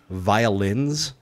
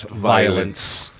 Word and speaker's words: violins: Especially after the tagline that we created last year, where it's pronounced violins, not violence.